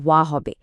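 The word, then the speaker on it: は: বাক্যে ব্যবহৃত হা পার আর্টিকেলটির উচ্চারণ কিন্তু সবসময় ওয়া হবে।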